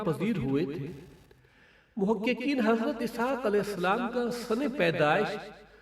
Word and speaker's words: اسحاق: ہے۔ اسحاق علیہ السلام، اسحاق اصل تلفظ کے اعتبار سے یزحق ہے۔ یہ عبرانی لفظ ہے